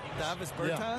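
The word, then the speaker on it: Dāvis Bertāns: Oh, well, now, at this point in my life, it's Davis Bertans. Is that how you say his name? Davis Bertans. Davis Bertans?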